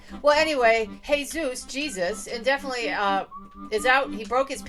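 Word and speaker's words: Jesús: It says Jesus. Well, that's pronounced Jesus in his country.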